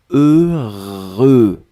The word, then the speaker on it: heureux: deux fois heureux donc ne ne regardez pas le h ne regardait pas le x ne regardait pas le eu juste fermer les yeux visualiser c'est cette combinaison heureux heureux et après vous allez voir c'est assez facile à prononcer deuxième chose concernant ce